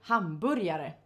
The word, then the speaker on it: hamburgare: But in Swedish we say hamburger, and about the food we say hamburgare.